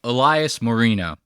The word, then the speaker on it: Elias Marino: know you just say Elias Marino that's how you say like Dan Marino you it's so funny